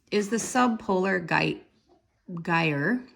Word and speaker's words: gyre: the sub polar guide Geyer rhymes with fire the bathtub toy observations